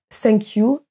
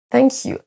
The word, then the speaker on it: thank: ne sort pas et quand j'ai la bonne prononciation que je prononce bien le TH vous allez voir que ma langue démarre au niveau de mes dents et qu'elle va légèrement apparaître thank you donc si votre langue ne sort pas légèrement et qu'on ne la voit pas certainement vous ne prononcez pas le son th de la bonne façon son suivant à travailler